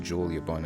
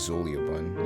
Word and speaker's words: Xuliabun: Yeah, and apparently it's pronounced Julia Bun and not Zulia Bun. Julia. Yeah. I just add like a little Z, like just Z sound in there, and close enough.